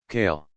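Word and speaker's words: Kael: After some practice, Marie managed to pronounce it properly barely. Kale.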